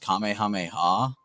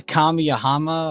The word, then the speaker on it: Kamehameha: purpose and they were saying some crazy ass pronunciations. The kamiama or whatever the I heard someone say that one got me. I started crying when I heard that one. Kami mama or it it killed me.